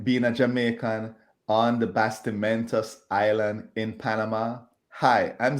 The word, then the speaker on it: Bastimentos: doing good hopefully I got the the first pronunciation of the island correct you did you did basti Mentos yes that's the Mentos actually means it actually